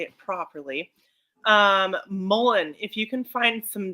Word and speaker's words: mullein: Mullein, if you can find some dried mullein leaves and roll them up, and I know this sounds weird, smoke it.